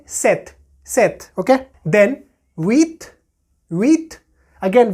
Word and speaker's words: huit: Then huit, huit. Again, we are not pronouncing H here because H is silent in French.